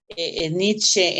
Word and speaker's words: Nietzsche: Principalmente creo que Nietzsche, si así se pronuncia, Nietzsche.